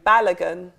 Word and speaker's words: Balogun: How do you pronounce the name? Balogun.